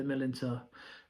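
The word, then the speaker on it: Millerntor: That is how you pronounce it, yeah, at the Millantor.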